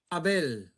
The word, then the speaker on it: Abel: Do you know how he pronounces his first name? Abel.